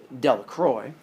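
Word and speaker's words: Delacroix: jones and dickie delacrox the villagers pronounced this name de la croix eventually made a great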